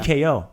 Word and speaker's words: tko: So that T it kind of just like flows. Ko. Do I have to pronounce it? So you don't say tko. You just say tko. Like it's got to be like a nice, like a drum roll.